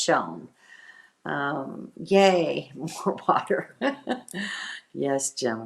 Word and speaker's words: Shoshone: learned something in town the locals don't pronounce the e at the end of shoshone and it sounds weird yes uh so it's not shoshone it's just shown yay more water yes